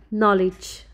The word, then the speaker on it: knowledge: Letter K is silent before N. Let's look some examples. Knee, kneel, knife, not, know, knowledge.